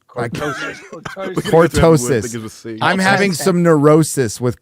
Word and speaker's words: cortosis: Yeah, catorsis. Did I say this right? Cortorsis, not catorsis, not contortion. Cortorsis. Cortosis.